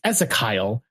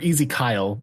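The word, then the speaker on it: Ezekyle: I'm It's Esakyle. Like there's E ease Kyle or Easy Kyle. Like there's Kyle in the middle of his name instead of just just going with Ezekiel.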